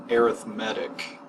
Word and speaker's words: arithmetic: the same way but when the word becomes an adjective describing the type of sequences what kind of sequences then it is pronounced arithmetic and basically sequences are